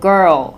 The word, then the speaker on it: girl: R이랑 L을 정확하게 해서 걸 같은 경우도 girl 이렇게 R 발음, L 발음 생각보다 느리게 그렇게 하셔야 되고요.